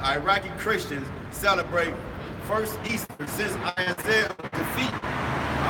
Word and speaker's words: Ishtar: It says this is Ishtar, pronounced Easter.